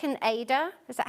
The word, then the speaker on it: Aida: This is called waste canvas, and it's like an Aida. Is that how you pronounce it? Yeah. An Aida.